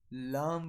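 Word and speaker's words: لام: So method of pronouncing, it says that when the edge of our tongue will touch the our first two teeth of mouth, lam will be pronounced.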